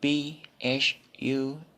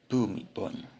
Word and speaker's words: Bhumibol: So BHUMIBOL. Co. Yes, Bhumibol. Correct. Anglophones call him correctly. But how Thai people call him? Bhumibol.